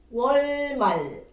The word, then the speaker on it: 월말: 월말. 월말. That's right. 월말 means end of the month. This one is both has L sound.